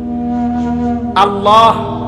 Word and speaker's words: আল্লাহ: আল্লাহ শব্দের শেষে যে একটা গোল হা আছে ছোট, এটা কো। সুবহানাল্লাহ, সুবহানাল্লাহ করলে তো শুধু লামের মধ্যেই শেষ হয়ে যায়, তো আল্লাহ শেষে আর একটা হা আছে না, এটা কই?